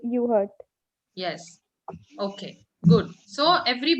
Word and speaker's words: Urquhart: Say again. Frederick A. Urquhart. You heard. All this is silent.